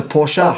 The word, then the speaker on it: Porsche: I'm going it's a Porsche no it's a porser por porer that's how they say it in German and that's always it's